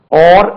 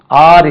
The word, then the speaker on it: or: ஓர், இது பாருங்க, OR, ஓர், இதுக்கு உச்சரிப்பு ஓர், அது ஆர் இல்லை.